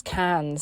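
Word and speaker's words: Cairns: our way across to Kens I say Kens but I think because it's spelled c a i r n s uh but everyone says it's cans so who knows anyways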